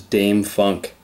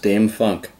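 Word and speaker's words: Dâm-Funk: artist from Los Angeles Dame Funk uh Dame Funk looks like Dam Funk it is pronounced Dame Funk this machine was the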